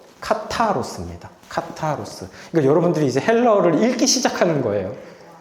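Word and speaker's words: καθαρός: 그래서 이거 타입니다, 타. 카타로스입니다.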